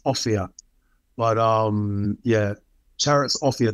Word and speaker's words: Offiah: I did realize that a fire is not actually how you pronounce your surname and I've just said it and I realized that's not how you pronounce it is it no my my name is offia but um yeah chariot's